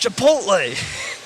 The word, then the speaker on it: Chipotle: I said Chipotle earlier and he's like it's pronounced Chipotle right oh really that didn't sound good